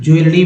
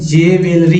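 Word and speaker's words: jewellery: क्वे उच्चारण क्या होगा इसे तो लोग जेवेलरी ही पढ़ेंगे जबकि शुद्ध उच्चारण है तो ज्वेलरी ज्वेलरी ज्वेलरी है ना नेक्स्ट देखिए सबको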